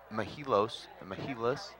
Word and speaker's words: Mehilos: our first question is how do we actually pronounce mahilos you got it right you got it right